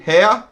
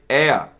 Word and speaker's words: heir: err spelt hir so we don't say hair we say heir and an heir is